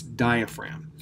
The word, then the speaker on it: diaphragm: get the spelling right it's not spelled as it's pronounced you have di pH are a and don't forget this G which I have underlined em so it's diaphragm now if you're looking